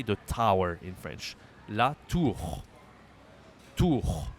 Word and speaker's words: la tour: La tour. Tour. The pronunciation is easy, like this. But no, the R is hard, but the U is okay.